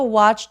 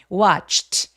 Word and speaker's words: watched: watched watched. 이제 지금 우리 눈에 a도 있고 이도 있으니까 소리가 음절이 두 개야 될 거 같은데 왓 맨 마지막에는 무성음이죠. 성대가 올리지 않는 추측 추측 요런 소리를 냈어요.